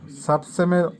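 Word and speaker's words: совсем: সাবসেম, সাবসেমের অর্থ হবে মোটেই।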